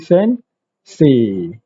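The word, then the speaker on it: 先生: So dia akan jadi sensei. Se tu akan jadi panjang. Sensei.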